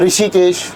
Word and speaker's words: ऋषि: री बोला जाता है, लेकिन ऋषि वाला री ना जो है ना वो री होता है। इसको बिल्कुल हल्के से ले लीजिए।